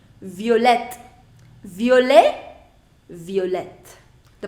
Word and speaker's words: violette: Now pronunciation. Violet, violette.